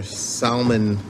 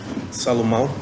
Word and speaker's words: Salomon: Manager Salmon, how do you say that? Salomon.